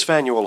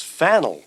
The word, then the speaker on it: Faneuil: mr campbell where does faneuil hall fit into history well just before we start we'll correct you on the pronunciation i go along with noah webster he says it's phantom so it's fennel that's right peter fennell